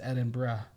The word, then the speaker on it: Edinburgh: foreigners in general but i learned that it's edinburgh and so when i hear him say it i was like hey he said it right all right that's like